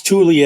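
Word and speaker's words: Thule: Tuli as in T Hu L E.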